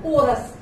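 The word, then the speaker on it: chorus: इसको यहाँ तो CH को हम च प्रोनाउंस कर रहे हैं, और यहाँ पर हम इसको क बोल रहे हैं, कोरस, सहगान, जो ग्रुप में गाया जाता है।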